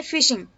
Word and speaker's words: phishing: Next है फिशिंग। इसमें P silent है, ये भी एक साइबर क्राइम है। स्पेलिंग अच्छे से देख लेना, एमसीक्यू में आ सकता है, PHISHING। इसका प्रोनाउंसिएशन फिशिंग होता है।